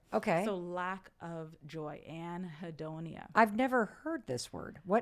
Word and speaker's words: anhedonia: I have helped my patients to name as anhedonia.